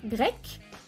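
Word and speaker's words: grecque: Suena igual la forma femenina, grec, pero se escribe C-Q-U-E, C-Q-U-E.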